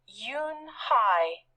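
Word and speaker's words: Yoon-hee: joey she nodded slowly yes it's pronounced yoon hi and it means grace mr kim added yoon hi joey said slowly and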